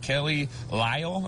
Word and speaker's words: Kelley Lyell: Just, you know, make sure I pronounce everything right. Kelley Lyell, am I saying that right?